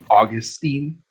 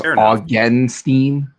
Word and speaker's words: Augenstein: name so perfectly because it wasn't Augustine. It was Augenstein.